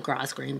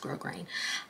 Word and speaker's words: grosgrain: uh grass grosgrain ribbon i call it gross green but it's pronounced grosgrain um you can melt